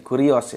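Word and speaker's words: κύριος: di Aat itu ada kata Kus ya Apa bacanya ini kurios ya yang artinya menjadi penguasa atau menguas ya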